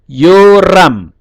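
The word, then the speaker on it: יורם: Ditulisannya ya, Yod, Holem Waw, Res, Chametz, dan Mem final. Yoram. Jadi membacanya Yo. Vokal panjang.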